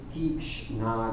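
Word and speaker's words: tīkṣṇa: But the pitta causes what we call Tikshna Agni. This should be a long I here. I don't have the accent mark indicating that. Tikshna Agni.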